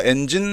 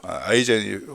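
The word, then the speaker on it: Eigen: 자, 비트코인과 별도로 이제 솔라나에서 이제 솔라나 관련한 이제 네티즌들은 이제 이분 보니까 엔진 레이어 투자자 같은데요. 엔진 아이콘 있네요. 엔진 레이어. 헤드 오브 스페셜 프로젝트 엔진 아이젠이죠. 아이젠이 정확한 발음입니다. 아이젠 레이어에 계시는 분이네요.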